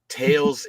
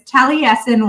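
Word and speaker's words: Taliesin: test at the end it is tesen west so basically just pronounce all of those all those letters yeah so T West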